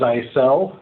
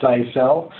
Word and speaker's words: Zyxel: so I guess we'll start with it is pronounces I sell you know that Jacob doesn't pronounce it that way but I mean it's a cell we've been making computer networking equipment now for